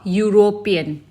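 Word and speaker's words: European: जैसे अ यूरोपियन. Fine. तो यूरोपियन हमारा स्टार्ट होता है ई लेटर से, बट इसकी प्रोनाउंसिएशन क्या है? यू. य में छोटी ऊ की मात्रा.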